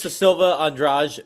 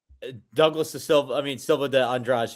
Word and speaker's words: Douglas Silva de Andrade: Douglas da Silva Andrade versus Javier Reyes. Silva de Andrade, excuse me, I should pronounce it like that.